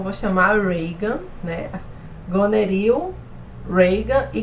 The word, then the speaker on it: Regan: Eu falo Regan porque se escreve Regan, mas eu decidi falar com a pronúncia mais americana, que eu acho que fica menos feio do que Regan.